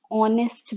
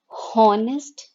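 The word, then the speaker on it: honest: ऑनेस्ट word H से start हो रहा है, पर जब हम इसे प्रोनाउंस करते हैं तो हम ऑनेस्ट बोलते हैं। जब हम इसे प्रोनाउंस करते हैं तो हम ऑनेस्ट बोलते हैं, हम हॉनेस्ट नहीं बोलते हैं। तो एच यहाँ पे साइलेंट है, और जब हम इसे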